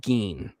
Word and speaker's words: Gein: And so they pronounce it Ed Gein. We can do Gein, we can do Gein, whatnot, whatever, right?